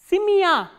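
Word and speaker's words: семья: ma soften and yeah Samia Samia as you can hear that the sound is pronounced as a combination of two sounds which is e craft K and plus awesome Samia next word we have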